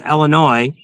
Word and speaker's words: Illinois: Illinois is pronounced Illinois. U there's no noise in Illinois.